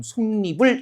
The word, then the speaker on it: 솜이불: 니은 첨가해서 발음, 솜니불 이렇게 발음이 되는 거죠. 솜이불이 아니라 솜니불 이렇게 되는 거고 그 다음에 얘도 마찬가지예요.